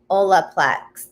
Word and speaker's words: Olaplex: Oh, Olaplex.